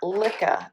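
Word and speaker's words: Lykke: I ended up getting the Licca needles. I think that's how you pronounce it.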